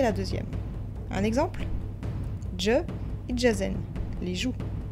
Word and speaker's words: ijazen: Je, Ijazen, les joues. Attention, le D devant le J n'est presque jamais marqué à l'écrit.